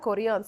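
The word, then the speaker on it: chorion: you are saying it correctly that is the koreon city Korean B Kalani koreon exactly so the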